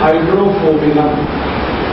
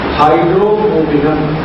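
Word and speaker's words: Hydrophobinum: दवा का नाम है हाइड्रोफोबिनम। मैं स्पेलिंग बोलता हूं, HYDRO, HYDRO, फिर उसके बाद PHO, P for parents, PHO, BI, ये भी वाला भी, BINUM, हाइड्रोफोबिनम, ये दवा है। HYDRO, PHO, BINUM, हाइड्रोफोबिनम।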